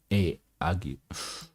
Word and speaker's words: ague: But discovering a leak, we unshipped our goods and wintered there, for the captain falling sick of an ague. It's an interesting word. Let's see how it's pronounced.